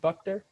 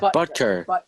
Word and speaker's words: Butker: Buckner? Buckner? The kicker. Harrison Buckner. Oh, Butker.